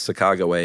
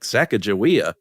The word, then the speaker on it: Sacagawea: Yeah, I think it's one of those things where like the the native pronunciation is Sacagawea and Americans were like Sacajawea.